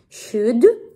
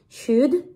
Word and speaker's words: should: En resumen, se pronuncia should, L muda, should.